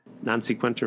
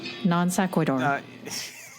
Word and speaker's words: non sequitur: Non-sequenter moment? Non-sequenter minute. It's pronounced non sequitur.